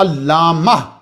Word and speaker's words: علامہ: کا حصہ بنا علامہ، یہ علامتن ہے اصل میں، اس کا تلفظ کیا ہے؟ علامتن، معنی اس کا ہوتا ہے عالم جدن، اور تا جو ہے وہ مبالغہ کے لیے لگائی گئی ہے۔ تو جب آپ وقف کریں گے تو یہ تا جو ہے وہ کنورٹ ہو جاتی ہے انٹو ہاں، تو علامہ بن جاتا ہے۔ تو صحیح تلفظ کیا ہے کہ جب آپ بولیں گے تو علامہ بولیں گے، لیکن کیا کریں گے،